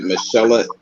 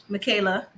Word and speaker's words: Michaela: it might change with Michelle. That's how you say it, right? Michelle and Zach. Michaela. Oh, it's Michaela.